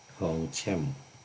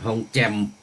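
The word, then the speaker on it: ทองแจ่ม: โอ้ ทอง แช่ม เอ ทอง แจ่ม สาธุ ๆุ พัน ทอง แจ่ม อื ตัว CH นี่ มัน ออก เสียง ได้ 2 อย่าง อัน นี้ ก็ ออก เสียง เป็น แทน ตัว จอ ได้ ทอง แจ่ม โอ ทอง แจ่มใส เดี๋ยว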